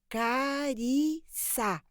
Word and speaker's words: Carissa: que sempre tivesse de corrigir as pessoas que pronunciavam errado é carissa dizia seu nome significava graça